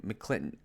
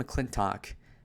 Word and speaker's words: McClintock: Bustamante, who we know nothing about, and Tom McClinton. Yeah, how the fuck do you say his name? Tom McClintock, okay?